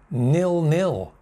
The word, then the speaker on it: nil-nil: Next one, similar to free kick, nil-nil. Two separate words, nil-nil. Main stress there, main stress there.